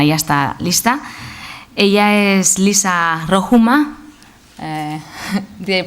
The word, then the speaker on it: Liisa Rohumaa: Ella es Liisa Rohumaa. Did I pronounce it right?